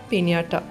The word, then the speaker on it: Pinata: of this rose is Pinata when looking at its spelling one might be inclined to pronounce it as PINATA but the correct position is PINIATA this is a rose